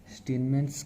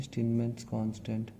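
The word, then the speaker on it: Steinmetz: स्टीनमेंस constant बोलते हैं इसको बोलते हैं स्टीनमेंस कांस्टेंट। अब स्पेलिंग मत देख लेना भाई।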